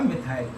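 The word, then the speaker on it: methyl: अब इसका नाम मिथाइल भी होता है, मैथिल भी पढ़ते हैं। कुछ हिंदी की बुक होती है उसमें मैथिल लिख देते हैं, इंग्लिश प्रोनाउंसिएशन इसका मिथाइल कर दो या मैथिल कर दो, नो डिफरेंस, कोई डिफरेंस नहीं। आप मैथिल कह देंगे वो भी सही है, और मिथाइल कह देंगे वो भी सही है।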